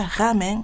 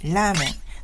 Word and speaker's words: ramen: Ici, je ne prononce pas ramen, mais ramen. Car ramen n'est pas naturel pour mes oreilles japonaises.